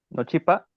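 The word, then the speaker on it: nochipa: Entonces, este caso la la nasalidad de la de la n, que si esto lo pronunciábamos como en como en español se pronunciaría no chipa. No chipa, un sonido más abierto, no chipa, o sí.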